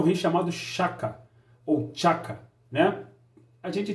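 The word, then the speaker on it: Shaka: do continente africano, que é o rei chamado Chaka, ou Chaka, né? A gente tem as duas pronúncias, né?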